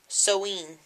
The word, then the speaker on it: Samhain: It's a medieval English MH, which is pronounced wa. So it's Soween.